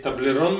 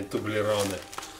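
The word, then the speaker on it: Toblerone: А вообще, как правильно говорить, таблерон, мне кажется, а не тублероны.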